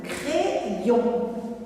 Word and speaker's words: crayon: Troisième mot, le crayon. Dans le mot crayon, le Y joue le rôle de deux I. Crayon. Le deuxième I va avec la deuxième syllabe.